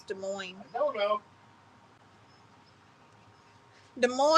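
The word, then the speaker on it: Des Moines: saying how to pronounce De Moine I don't know de MO is not a country Cassie the s's are silent did I call it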